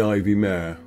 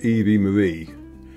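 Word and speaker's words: Ivi Mare: to call the hotel on the right the ivy May it's actually pronounced eie Marie and similarly the aquamare is actually pronounced aquamie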